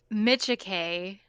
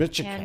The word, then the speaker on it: Micciche: Ashley, give us your proper pronunciation of your last name. It's Micciche, and Micciche.